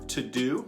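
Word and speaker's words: Teuxdeux: Personally, 2 apps that I have found very helpful in my own life are To-Do, that's my to-do list, but it's spelled T-E-U-X-D-E-U-X, always get that one wrong, and an app called Feedless.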